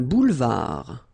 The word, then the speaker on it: boulevard: Un boulevard. Final D not pronounced.